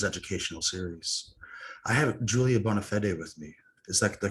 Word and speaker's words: Bonafede: I have Julia Bonafede with me. Is that the correct pronunciation?